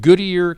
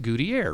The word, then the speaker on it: Goodier: with goodyear creative and when i first met you i pronounced your name goodyear and you did not correct me i hate it you pronounce it goodie air right yeah and my mom always says it's like good ear so good here good